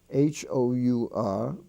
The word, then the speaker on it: hour: t now we have the silent h I guess that's a consonant you could say is silent in such words as our h-o-u-r like what hour is it we spell h o u r honor he's on the honor roll h-o-n-o-r honest h-o-n-e-s-t the H is silent there ghost g-h-o-s-t ghastly g-h-a-s-t-l-y